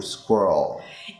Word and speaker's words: squirrel: Or squirrel.